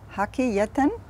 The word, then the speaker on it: Hakkı Yeten: Kı. Hakkı. Not ki. Kı. Hakkı.